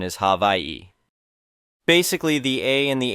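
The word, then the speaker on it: Hawaiʻi: The traditional spelling is Hawaii and pronunciation is havi. Basically, the a and the h merge. The w and the a and the i merge. The w makes a v sound since it's surrounded by vowels.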